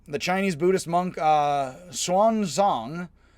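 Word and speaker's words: Xuanzang: chinese buddhist monk uh swan zhang x is pronounced hs and i pronounce it as best i can swan song famously journeyed to the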